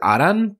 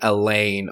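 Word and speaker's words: Alain: lad is um well his karakana says Aran but it's spelled a-l-a-i-n at least I think so it's a good thing I've been learning Japanese or else I'd be saying Elaine or Allen this whole time although I think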